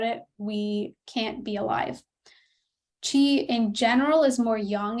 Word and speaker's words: qi: So our very first and probably most familiar vital substance is qi. In textbooks, you may also see it spelled QI. It's still pronounced qi, but just so you recognize what it looks like.